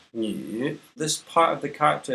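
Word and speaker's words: 女: This is a woman, pronounced Ni.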